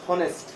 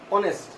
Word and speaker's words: honest: উচ্চারণটা অয়ের মতো হওয়ার কারণে, অয়ের মতো উচ্চারণ হওয়ার কারণে অনেস্ট, নট হনেস্ট, উচ্চারণটা অনেস্ট।